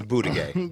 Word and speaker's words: Buttigieg: It's Buttigieg. Okay? What? Gay? Did I say it wrong? What's his name? Is it really booty gay?